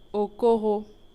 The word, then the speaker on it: Okoro: Quelle est la bonne prononciation du titre du film ? Le titre du film ? Ouais. Au coro. Pardon ? Au coro. Au cor exactement. Ah, c'est pas comme ce que les gens disent souvent.